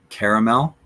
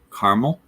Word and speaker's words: caramel: kind of funny because they can be correctly pronounced several different ways. Is it caramel? Is it caramel? Is it both? Does it depend on what you're having or how you're using that word?